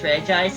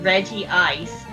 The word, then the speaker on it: Regice: Or they just leave the name untranslated despite it being pronounced in English. It is in other places in the anime referred to as Regice as it is written. But like, yeah, Regi Ice.